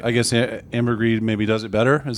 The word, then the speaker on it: ambergris: Ambergris is how that's pronounced.